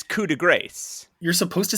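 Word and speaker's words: coup de grâce: However, Pat's pronunciation of coup de grace with the silent CE at the end of grace, is a common mistake that I feel obligated to correct because I'm still an annoying pedant.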